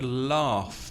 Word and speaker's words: laugh: and the next word laugh because the spelling is a bit tricky a bit difficult it's la ugh so the final two consonants have the F sound so laughs are and